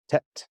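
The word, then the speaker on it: טית: that in a minute so tet is T it's just a tea set that's it uh yod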